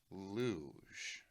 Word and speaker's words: luge: We know it's pronounced luge, but what if I said because I didn't know how it was pronounced if I said.